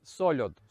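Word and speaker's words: solod: як він є так Але вимовляється воно на Полтавський манер тобто з м'якою л сольод ну і тут же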